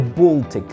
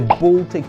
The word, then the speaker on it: Baltic: let it be the Baltic Sea the thing is when a and L come together they are usually pronounced all subsequently the Baltic Sea is surrounded by